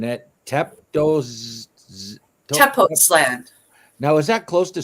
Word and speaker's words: Tepoztlán: So I looked up where you were, and I have trouble pronouncing it. Tepoztlán.